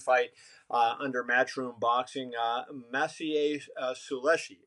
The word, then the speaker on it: Sulecki: His second fight under Matchroom Boxing, Maciej Suleshi. Is that how you pronounce his last name? The If undefeated you're Polish posting, fight. yeah, Maciej Sulecki, 26-0.